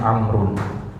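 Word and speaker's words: عمرو: ada kata amrun nah kata amrun ini agak unik dia ya karena dia pakai wau di belakangnya dan Wau ini justru tidak dibaca ya amrun ini wwya dianggap enggak ada ya Ini bacanya amrun Ya kalau ini bacanya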